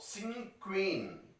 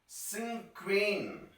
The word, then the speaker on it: cinquain: This is the structure of singing queen. This is the pronunciation. Cinquain.